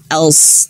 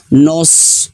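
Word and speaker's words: نَصْرُ: Huruf nunnya tipis, nah baru huruf shad tebal. Nals, na, nails, nails ya. Jangan bacanya langsung tebal. Nose, nose. Nah, akhirnya huruf nunnya terbawa tebal ya. Ingat ya, di kalimat ini nails ya.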